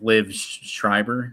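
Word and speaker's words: Liev Schreiber: They give us Sabretooth again, and it's like Liv Schreiber.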